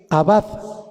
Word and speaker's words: abad: servirle proviene de la raíz hebrea abad abad con acento en la a abad abad a b a d a b de bueno